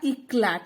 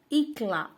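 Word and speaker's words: éclat: मतलब है भूल मिस्टेक्स ई सी एलटी तो हुआ हमारा इकला नहीं यहां पर जो है वह टी हमेशा साइलेंट रहता है तो हुआ इकला इकला तो लिखते हैं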